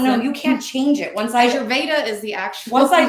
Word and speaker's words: Ayurveda: Ayurveda is the actual.